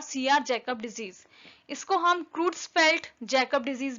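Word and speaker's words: Creutzfeldt: इसको हम क्रूट्सफेल्ट Jacob disease भी बोलते हैं, उसी का शॉर्ट फॉर्म CR जैकब है। Okay, it's spelling is CREUTZ FELDT।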